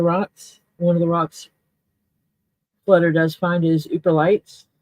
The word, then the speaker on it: Yooperlites: One of the rocks Flutter does find is Ooperlites. It's spelled Yooperlites.